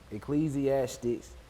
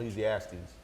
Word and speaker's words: Ecclesiastes: Ecclesiastics. There's no X, but it's Pretty much. Ecclesiastes.